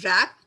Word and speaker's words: wrap: Some words have initial consonants which are not pronounced. For example, H in honest, W in wrap, K in knock.